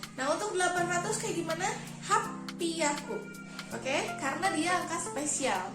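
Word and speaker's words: 八百: Tapi karena dia spesial, pengucapannya berbeda. Jadi ropiaku, double P ya, ropiaku, kayak gitu. Nah, untuk 800 kayak gimana? Hapiaku.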